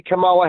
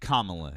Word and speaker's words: Kamala: Well, um, so Matt, you say Camala Harris would be a better president. Why? Kamla Harris is her name.